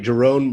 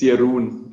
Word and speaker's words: Jeroen: It's Jeroen, actually. Jeroen.